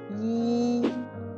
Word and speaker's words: 一: Vous voyez, dans ces trois cas, je prononce le caractère yi en respectant sa prononciation de base, le premier ton yi.